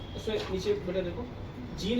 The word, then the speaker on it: Jean: उसमें नीचे बेटा देखो जीन है ना, इसको ये जो वर्ड है फ्रेंच वर्ड है ये, तो इसको वहाँ पे जॉन पढ़ते हैं, ठीक है, उनका प्रोनाउंसिएशन के हिसाब से आप देखिए।